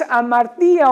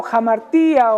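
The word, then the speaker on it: ἁμαρτία: La palabra pecado es una palabra que en griego es amartía o jamartía, o como ustedes quieran pronunciarlo. Es amartía. Y esa definición de amartía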